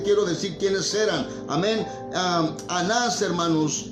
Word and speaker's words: Anás: Anás, hermanos, Anás también se puede pronunciar Ananús, amén, o Ananías, hermanos, amén.